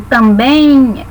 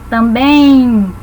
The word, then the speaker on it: também: Na palavra também, nós temos um ditongo, porque pronunciando também, esse bem no final é como se falássemos um izinho, também.